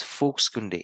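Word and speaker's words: Volkskunde: they use the term folks kunde for folklore now how is folks going to pronounce a spell that is v-o-l-k-s-k-u-n-d-e but it's pronounced as folksunday it's a German word and it's pronounced as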